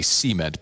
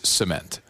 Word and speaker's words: cement: In the south, we put the emphasis on the first syllable and say cement, but the correct pronunciation is cement.